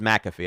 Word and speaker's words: Pat McAfee: He pronounces McAfee.